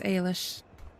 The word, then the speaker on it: Ailish: Yeah, it's basically pronouncing the letter A and then lish. Just kind of put them together. Then it's Ailish.